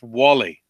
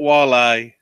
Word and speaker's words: Wale: It's pronounced Wally. It's not Wale. It's not Whale.